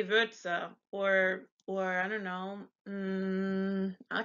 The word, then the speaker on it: Würze: And then the sound, it sounds like the U in hurt, but yeah, it's a little tricky too. So you'd say Würze. You wouldn't say Wurze, but you'd say Würze or I don't know.